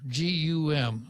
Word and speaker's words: GUM: at gum department store g-u-m they pronounced it goom but it's it's gum it's right right yeah